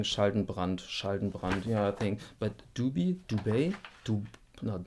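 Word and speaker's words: Dubey: I'm pretty sure that Schaldenbrand is a German pronounced thing. Schaldenbrand. Yeah, I think. But Duby, no, it's not Dubois.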